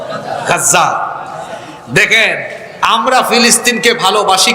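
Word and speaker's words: غزة: গাজা মানে ওইটা না, আবার এটা আরবি উচ্চারণ হলো গাজা।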